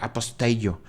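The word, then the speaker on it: ἀποστέλλω: Este es el único lugar del Evangelio donde Marcos utiliza esa palabra griega que se pronuncia aposteio, que significa enviar, mandar,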